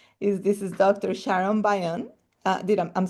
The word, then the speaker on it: Byun: Sharon Bayion.